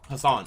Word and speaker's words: Hasan: Hasan.